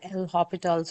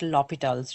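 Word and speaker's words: L'Hôpital: So this is a French name. Some people call L hospital's rule. Some people also end up talking about lo hospitals rule. There's no s in there. So I just pronounce it Lital's rule.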